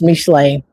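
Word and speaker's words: משלי: Okay, so we started every chapter with just the first six verses of Proverbs, which is pronounced Mishlei in Hebrew.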